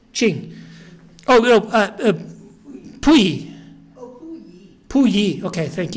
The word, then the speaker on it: Puyi: Puyi, say his name for me, Puyi? Qing dynasty. What is it? The Qing is pronounced Qing. Qing. Oh, no, Puyi.